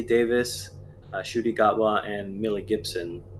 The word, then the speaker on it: Davies: we're both missing like between Davies and Davis I mean it's like we hear him introduce himself as Russell the Davis so yeah right I'm going